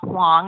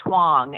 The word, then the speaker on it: Whang: And I say, oh, it's a soft A sound, sort of like Don Juan.